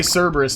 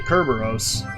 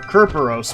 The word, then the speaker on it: Cerberus: Just like when people say Cerberus, it bothers me too, because it's actually Kerberos. Or Kerperos, more specifically. Because there was... the C in the Greek alphabet, I guess, didn't make that soft sound. So, the way it's spelt is... or the way it's pronounced is Kerperos.